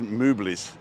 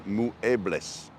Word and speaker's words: muebles: But if you're reading it with an English word, it's muebles. But you pronounce every letter in Spanish, so it's actually muebles.